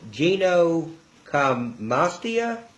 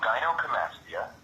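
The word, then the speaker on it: gynecomastia: Um, now you can you can correct me if I'm mispronouncing this. Uh, it's a condition called ginocomastia. Oh, yeah. Yeah. This is um it's called gyoccomastia.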